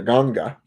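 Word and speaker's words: nganga: So this individual had an issue with the fact that because I didn't have that Niagara or that the Ganga as it's pronounced, that I utilized something.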